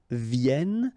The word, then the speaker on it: viennent: All right, and then ils viennent. So remember, as usual in French, when we talk about conjugation, E-N-T at the end, you don't pronounce it here.